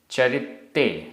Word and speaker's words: चरित्ते: चरित्ते आधता पुरता चरित्ते य।